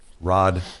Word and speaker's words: Rawd: Rod, and the Rod is spelled R-A-W-D.